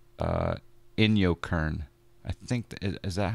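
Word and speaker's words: Inyokern: Yankee kilo n you in yo Kern kind of like in your face but in your Kern it's not too far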